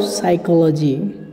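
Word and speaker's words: psychology: आपको इंस्टीट्यूट व हर टीचिंग इज़्ज़त आर्ट ऑफ साइकोलॉजी चीज मतलब शिक्षण गणित पढ़ाने का तरीका या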